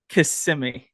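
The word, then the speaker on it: Kissimmee: got to interrupt what how did you pronounce it is it kiss me thought it was kissy kissimi I'm Florida everybody it's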